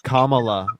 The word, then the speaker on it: Kamala: I don't know how to say it it's Kamala Kamala Camala Kamala Kamala yeah oh okay well